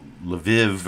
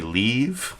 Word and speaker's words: Lviv: pronounce lviv as i if it's key shouldn't be leave if if uh ki if kviv is keev shouldn't lviv be leave no it's lev i guess but like i said